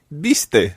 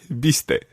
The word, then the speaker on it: viste: Biste. Okay, so we've got bees and now we've got beasties. Be, biste.